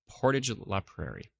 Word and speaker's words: Portage la Prairie: Aaron says ha porridge yeah it's like porridge but porridge Portage the Prairie like porridge I like how you said like porridge that makes a lot easier to figure out it's good like porridge Portage la Prairie perfect let's see here